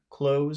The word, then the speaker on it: clothes: don't ignore the th don't try to pronounce the th it's just close I'm